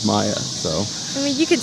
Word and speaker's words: Mia: your name there uh it may be Mia German but it's really and your last name is German I okay so we are pronouncing the last name right but the first name is Maya so I mean you